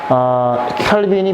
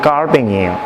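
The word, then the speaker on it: Calvin: 이 프랑스는 칼빈이 프랑스 사람이죠. 그래서 원래 칼빈은 영어식 발음이고 정확한 발음은 깔뱅이에요. 프랑스에서는 깔뱅이라고 부릅니다.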